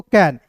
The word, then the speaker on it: can: उसके बाद देखिए सी का क, एन का न, ए है तो इसका उच्चारण आई के रूप में, CAN को क्या पढ़ेंगे दोस्तों, कैन, CAN को क्या पढ़ेंगे दोस्तों, कैन पढ़ेंगे, साइन नहीं पढ़िएगा।